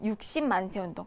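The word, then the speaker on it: 6·10 만세운동: 6.10이라고 읽으면 안 돼요, 여러분. 60만세 운동.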